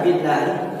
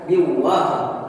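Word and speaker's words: بِاللهِ: Sebelum saya lanjut, di dalam lafaz billahi di sini merupakan lafzul jalalah tarki atau lam jalalah yang dibaca tipis seperti itu. Jadi bacanya billahi, bukan biwah, melainkan billahi karena lam jalalahnya didahului harakat kasrah.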